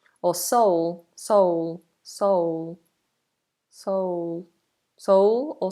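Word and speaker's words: Seoul: you shall we um sa s s or soul soul soul soul soul or soul is coming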